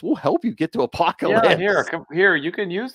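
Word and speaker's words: Apokolips: Yeah, just Apocalypse. It's spelled with a K. Apocalypse with a K.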